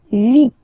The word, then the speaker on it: huit: And here, final T is pronounced. So huit, huit. Remember in French, this H letter here. Okay, doesn't exist phonetically, so we don't really pronounce it.